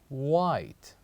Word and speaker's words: white: The sixth word is white. White. So what is the silent letter here with the word white? Is letter H.